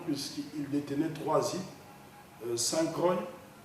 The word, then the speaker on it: Saint Croix: il détenaient trois hîes saintcro qui s'écrit Saint Croix en français saintcro Saint- Thomas et